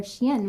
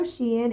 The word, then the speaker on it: Shein: You're going live for Shein, right? Do you want to tell them where to find you? Yeah, of course. Um, if you guys know Shein, it is a clothing line.